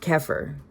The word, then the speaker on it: Xeper: It's an Egyptian word that is spelled E per and pronounced keir.